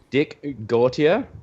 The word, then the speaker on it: Gautier: So, Dick Gautier, is that the correct pronunciation?